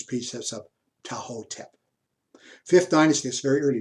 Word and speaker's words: Ptahhotep: I actually don't think the T is pronounced in this case. So rather than call these precepts of Ptahhotep, I think it's precepts of Ptahhotep.